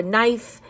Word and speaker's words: knife: When a K and an N come together, the K is silent. We just say that the N. Like in knee or night or knife. And this isn't the night